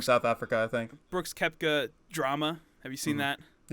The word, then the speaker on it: Koepka: it's brooks koepka and i think it's kepca it's is it kepca yeah but it's spelled coca yes but it's kepca yeah he's from south africa i think brooks kepca drama have you seen